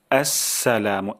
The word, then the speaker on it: আসসালামু: হয় এটা শিখবো ইনশাল্লাহ প্রথম শব্দটি হলো আসসালামু এই যে আস শব্দটি খুবই গুরুত্বপূর্ণ অনেক সময় আমাদের হয়ে যায় স্লা আসসালামু আলাইকুম অথবা আসসালামু আলাইকুম সালা এমন উচ্চারণ চলে আসে তাহলে প্রথম উচ্চারণটা